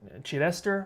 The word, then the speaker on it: Chidester: Chidester, I think is how you say that.